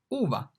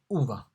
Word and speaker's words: uva: U, uva. In Italian, U is pronounced like U in bush, U, uva.